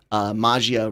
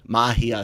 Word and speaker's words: Magia: Jammer, actually, go ahead and Mahia. Sorry. You yourself kept saying it the way we would mispronounce it. Mage. I know that. That's what I'm saying is, even in your early Breaking Geek days, you would say it the way you knew people would mispronounce it, trying to walk us into eventually getting to the proper.